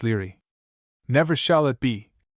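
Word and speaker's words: Laegaire: "FN number 14, pronounced Leary.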